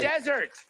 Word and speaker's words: desert: Emphasize the first syllable of this 6-letter word, and it's a dry place. Emphasize the second syllable of the same word, and it means to abandon someone or something.